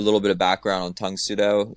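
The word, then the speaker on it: Tang Soo Do: Just for a little bit of background on Tung Sudo, it's just the Korean pronunciation of Karate Do.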